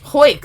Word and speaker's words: hoik: Hoik, like you hoik up your pants. That's hike. No. Hike up your pants. You hoik your pants. It's spelled hoik. You can also say hoik, not hike. It's also hoik. I don't like it.